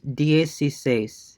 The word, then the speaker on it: dieciséis: So now it becomes dieciséis, dieciséis, dieciséis, dieciséis, dieciséis, dieciséis, dieciséis. It's so once you break it down and pronounce the individual components, it becomes easier, and then you can like join them together.